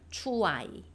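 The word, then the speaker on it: ช่วย: 초아이 원래 어떻게 있냐? 추아이에요. 추아이. 그런데 뭐 우리나라의 발음과 태국어의 발음이 100% 일치하진 않잖아요. 우리가 들어보면 추어이 이렇게 들려요. 추아이. 추아이. 자, 추아이. 추아이. 추아이. 이렇게 읽어 주십니다.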